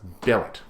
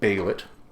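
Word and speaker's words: Bêlit: stupidity in my head where I have always said this name is bellet now I know that's entirely wrong but that's the one I always fall to I have been corrected on this channel I've been told no no no it's bailit I have been told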